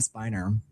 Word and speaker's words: Spiner: But his name is Brent Spiner. Um I think it's people I think people pronounce it spinner but I think it's actually spiner but it looks like spinner but Brent sp